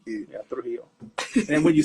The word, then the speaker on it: Trujillo: the hill it's not under the hill it's through heel uh so uh through heel through heel yeah okay nice I like it yeah through heel and when you say it they're gonna say